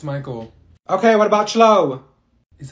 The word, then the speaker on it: Michael: Thank you, Mikael. Ma'am, it's Michael.